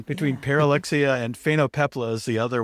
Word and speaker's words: Pyrrholoxia: I'm going to have to ask John to pronounce this again. Pyrrholoxia. Pyrrholoxia.